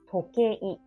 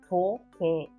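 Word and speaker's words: 時計: In Japanese, tokei, tokei. So this is kei and I. It's a repeated vowel.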